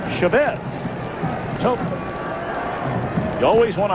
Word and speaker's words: Chavez: be wondering, you know, you've heard him called Chavez. And we asked him about it, and he said he doesn't really mind either way. He said, but his father has always pronounced the family name Chavez.